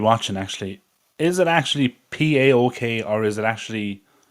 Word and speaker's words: PAOK: say said my Greek Insider is insisting it's pronounced so that be pel so p and then an L in the